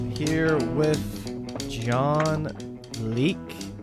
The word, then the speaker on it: Leake: here with Jon Leake. Is that how you say it? Leake? Yeah, Leak. Leak?